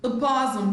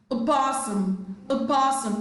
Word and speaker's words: opossum: Opossum, the first letter O, all right, is almost silent, not entirely silent, but is not significantly pronounced. Opossum. Compare with of the second O in the same word.